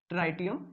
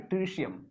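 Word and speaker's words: tritium: एंड the last one इज ट्राइटियम या फिर ट्रिशियम, आपको जो भी प्रोनाउंस करना हो। कोई कोई इसको ट्राइशियम बोलता है, कोई कोई ट्राइटियम बोलता है।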